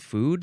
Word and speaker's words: fo: And I do believe that I have seen this, but I didn't know that they called it a foo dog.